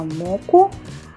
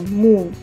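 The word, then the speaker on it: 木: По-японски он читается моку, а по-китайски му и означает дерево этот иероглиф.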